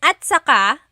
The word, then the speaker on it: at saka: Okay, and then at saka, technically it's spelled at saka, but when it's pronounced, remember the TS combination, it makes that ch sound.